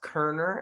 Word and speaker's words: Koerner: It's pronounced Koerner and it's Koerner.